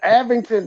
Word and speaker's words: Abington: Abington. Avington. Don't mispronounce Abington. Don't mispronounce my last name, sir. It's disrespectful.